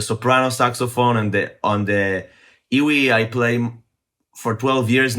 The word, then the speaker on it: EWI: And So what is an iwi? It's actually initials for like iwi electric, like electric wind instrument. So iwi, you actually spell it EWI, which stands for like electric wind instrument.